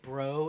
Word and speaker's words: Breaux: Well, no, I was bruh like all my life, but bro is more like, it snaps. It gets your fucking attention. I think I'm okay with it as long as you spell it B-R-E-A-U-X. Bro.